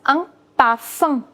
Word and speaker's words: parfum: The next one is a perfume that's known as un parfum. Remember, there is no sound of M. Rather, there is a little sound of N. Un parfum. Un parfum.